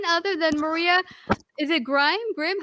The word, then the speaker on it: Grimm: Is it Grimm? How do you say it? Grimm, like the Grimm fairy tales.